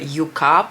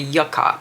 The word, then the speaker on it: Yucca: who informed us that the correct way to pronounce the name of the new Natasha denona palette isn't the Yuka palette it is the Yucca palette I find it a little bit bizarre to say Yucca because it's almost like ah but it's a plant okay it's a plan and